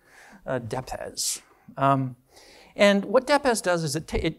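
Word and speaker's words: depesz: I asked the author how to pronounce that because I didn't know how to pronounce it. This is a Polish word, DEPES.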